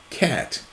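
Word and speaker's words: QAT: Did you know the abbreviation for quick access toolbar Q A T is pronounced cat in many countries and regions?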